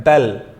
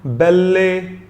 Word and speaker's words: belle: मैं इसका प्रोनाउंसिएशन भूल गया, माफ कीजिएगा, इसका प्रोनाउंसिएशन बेल है। मैं एक बार चेक करके देखता हूं, जस्ट अ सेक। हाँ जी, मैंने अभी भी चेक किया, प्रोनाउंसिएशन बेल ही है। तो इसको हम बेल्ले ना पढ़ें, वेल्ले जैसे हम हिंदी में पंजाबी में यूज कर लेते हैं, इसको बेल्ले मत पढ़िएगा।